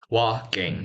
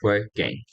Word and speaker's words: walking: me walking so remember it's walk all right walking not working and and how would